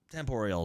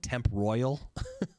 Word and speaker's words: Temporal: was dumb temp orial temp oral is I think that's how it's pronounced that was one of that was always one of the problems we had with it because for the longest time I thought it said temp Royal but it's tempor yeah it's like temporal